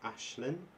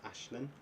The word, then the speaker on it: Aisling: The ride after Tron was during the 2023 closed season, and that was Ashlyn. It's spelled Aisling, but it's Irish, so it's Ashlyn.